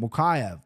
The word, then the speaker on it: Mokaev: I can't pronounce this guy's last name. Mokaev.